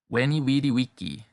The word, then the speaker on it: Veni vidi vici: This is the restored classical pronunciation.